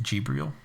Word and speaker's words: Jibril: Did you know that Gabriel is pronounced Jibril? I didn't. Jibril or Gabriel. It just depends on the dialect of Arabic.